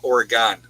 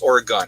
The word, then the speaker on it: Oregon: it that way because i always say it wrong oregon but it's oregon i apologize let's see